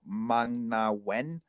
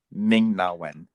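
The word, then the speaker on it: Ming-Na Wen: you to look up mang na when sorry ming oh my god i just butchered someone's name ming na wen no n yeah so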